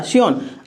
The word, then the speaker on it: scion: और यहाँ इसको ऊपर वाला जो दूसरा पौधा था इसको सियोन कहेंगे, SCION। ठीक है, साइलेंट रहता है।